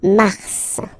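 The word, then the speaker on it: mars: it's an exception because normally final s is not pronounced in French okay we got some exceptions and this one is one of them so Mar pronounce the final s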